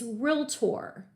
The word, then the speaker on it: realtor: I also want to point out it only has 2 syllables. People, for some reason, want to put the 3rd syllable in there. And I will hear them say realtor all the time. Realtor. No, it's realtor. So realtor, let's all say it together wherever you are sitting. I want you to say out loud, realtor, realtor.